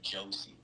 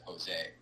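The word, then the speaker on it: José: I say Josie instead of Jose, and she gets really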